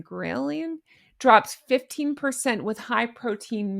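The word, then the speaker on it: ghrelin: I never know how to say this word, but I believe it's grant. G H re L I N. Grillian drops 15% with high protein meals per 2025 nutrition study.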